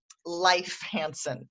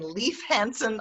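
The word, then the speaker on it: Leif Hansen: A friend of mine, Life Hansen. I'm learning to say that because he's been Leaf Hansen all of my life, but Oh, he changed he's it. changing his pronunciation now to Life Hansen.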